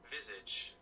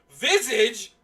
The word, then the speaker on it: visage: The smiling fac Vizage of his childhood friend beaming from the How the hell do you pronounce this word? Visage. Visage.